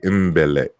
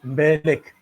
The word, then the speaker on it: Mbeleck: See, when you see the name, at least us English speakers, we want to pronounce the M in Mbeleck. And so we would say Mbeleck, and that's not how you say it.